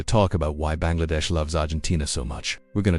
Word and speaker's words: Argentina: It's because the way it's supposed to be pronounced is Argentina, the way we say it in Spanish.